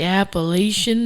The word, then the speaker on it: Appalachian: The Appalachian Mountains. Thank you for pronouncing it the way I've heard it on the east coast for my entire life.